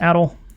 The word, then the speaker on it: ADL: It's ADL. It's pronounced ADL.